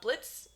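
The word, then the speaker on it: Blitzø: boss follows um uh Blitz uh the O is silent um who is the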